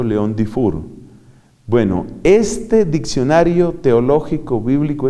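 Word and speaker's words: Léon-Dufour: Y se pronuncia, por supuesto, León Dufour.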